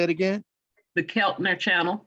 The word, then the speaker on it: Keltner: captain Channel how you say it again the Keltner channel right here okay how you spell that well I can't really see it k-e-l-t-o